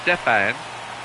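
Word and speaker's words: Stephan: It's pronounced Stefan.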